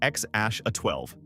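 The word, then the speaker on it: X Æ A-12: names in human history, X A A Z, which somehow gets pronounced X Ash A 12.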